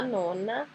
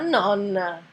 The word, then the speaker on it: nonna: Que é diferente de falar nona e diferente de falar nonna.